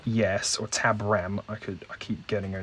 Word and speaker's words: Tabram: Tadam, yes, or Tabram. I keep getting her name wrong.